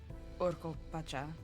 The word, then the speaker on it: Pacha: That's part of how I know the pronunciation isn't ka and it's cha. For, Pacha.